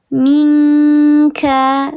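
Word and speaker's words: منك: Jadi dibacanya eng, min, ko, minka, begitu ya. Jadi bunyinya eng, betul, jauh dengan nun.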